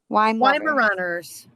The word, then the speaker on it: Weimaraner: Weimaraners. Wine lover. Weimaraners. Oh, I've been saying it wrong for my entire life.